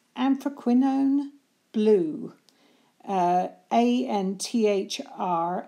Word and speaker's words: anthraquinone: the description below so I hope I can pronounce this one this is kind of an interesting word it's anthraquinone blue a and th are aq UI n